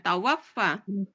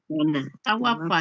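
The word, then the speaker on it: تَوَفَّ: Eh, gak panjang. Jangan panjang bacanya. Tawaffa. Tawafa ya. Ya gak panjang.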